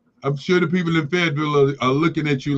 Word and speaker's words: Fayetteville: Fayetteville, North Carolina. Fayetteville? Fayetteville, North Carolina. Oh, that's how you say it down there.